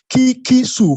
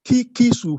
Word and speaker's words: Kikisu: the father's name is kikisu who so I pronounce it uh as if you are pronouncing a Japanese name no I was corrected it is key kisu who don't ask me for